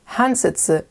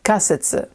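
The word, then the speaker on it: 仮説: but this word which means hypothesis is not pronounced hansetsu it's pronounced kasitsu usually this kanji is always either pronounced ka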